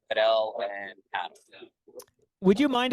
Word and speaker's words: Padel: I mean, the phonetics behind it, I don't know the right word, but P-U-H-D-E-L, Padel.